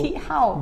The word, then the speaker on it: Chi Hao: So Chi Hao. yes, correct. So the Chi Hao. pronunciation is actually same as the Chinese one, number 7.